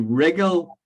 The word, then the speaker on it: wriggle: there's wriggle that's interesting to wriggle right pronounce with an r not o w to wiggle is to